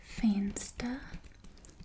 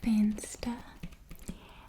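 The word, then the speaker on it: venster: and then we have fansta fansta and that means window so the v sound is like an f in afrikaans um faint stir and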